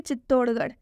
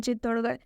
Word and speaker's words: चित्तौड़गढ़: है लास्ट में इसलिए इस आर एच का उच्चारण ढ से हुआ है। ठीक है, एक लास्ट एग्जाम्पल देखिए चित्तौड़गढ़।